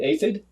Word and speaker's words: aphid: there was a uh some athens is that a bug you said it right an aphid aphid that's the word aphid and uh kind of